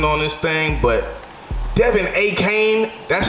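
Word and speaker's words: Achane: boy Bijan Robinson on this thing, but Devin A. Kane, that's how you said you pronounce it, but man, they should call you A-Train.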